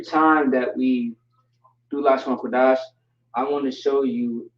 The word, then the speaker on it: Qadash: This is ka, not cha. Never say cha, always say ka. You want to be aggressive with it. Like, for example, we have a captain, a strong captain in the U.P.K. Captain Qadash, right? Qadash, not Chataza, right? It's not cha, it's ka, okay?